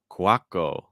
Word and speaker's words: Couacaud: Minoru saying, Ben, the right pronunciation is Couacaud, apparently. Really?